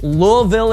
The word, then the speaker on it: Louisville: I had Kentucky friends tell me that you pronounce as few letters in the name of the city as possible and you might get it right. So Louisville it is.